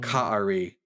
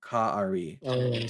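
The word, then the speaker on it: כָּאֲרִי: And this word is pronounced Ka'ari. That's the word that means like a lion. Ka'ari.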